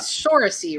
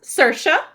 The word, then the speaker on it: Saoirse: Yeah, her name is Shorasy, right? Shorasy? Very close. Saoirse. Not close at all.